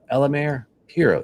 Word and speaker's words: Elemer Piros: You're going to learn a lot from uh and I'm going to make sure I get the pronunciation of your name correct. It's Elmare Piro, right?